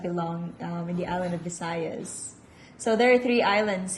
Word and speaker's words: Visayas: Visayas or Bisayas? Visayas with the letter V.